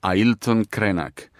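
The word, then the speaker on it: Ailton Krenak: just give you and our listeners one name Aon krak how do you spell that Aon krak a i l t o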